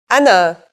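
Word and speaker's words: أنا: Mark on the top when alif is at the beginning of the word we add this Mark to it but it's still the aleph sound there's an exception to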